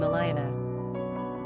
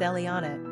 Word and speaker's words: Elianna: for market share with Eliyanah and Eliyanah. Quick facts on Eliyanah. Gender, girl. Origin, Hebrew. Number of syllables, 4. Ranking popularity, 706. Pronunciation, E-H-L-E-A-H-N-A, E-L-E-A-H-N-A.